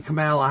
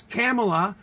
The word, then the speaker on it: Kamala: So she goes Kamala, but in the wrestling, it's Kamala. The great Kamala.